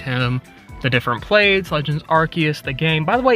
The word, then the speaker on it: Arceus: Legends Archus. The game, by the way, it is Arc because in that game, you get the Ark phone and you don't pronounce it the Ars phone. So, it is Archus.